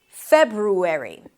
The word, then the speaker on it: February: The first is February. You start with an F sound, then it's the as in red, fe, you close your lips for a B, feb, then ru, an